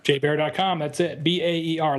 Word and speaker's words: Baer: I should have gone from Jason Baer to J Baer spelled like the animal.